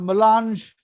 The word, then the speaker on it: melange: The MC Kejriwal Vidyapit organized this school as a melange, or as I pronounce, melenge.